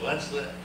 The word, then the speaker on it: Leinster: Many people mispronounce his name as Murray Leinster, but I once asked him, how do you pronounce his name? He said, Leinster, as in Fenster.